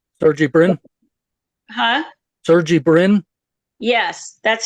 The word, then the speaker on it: Sergey Brin: Sergey Brin.